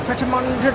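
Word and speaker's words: Pret A Manger: We're going to Pret-a-Manger. I don't know how you pronounce it, but it's literally my favourite place. Everyone just calls it Pret, don't they? It's just Pret. Pret.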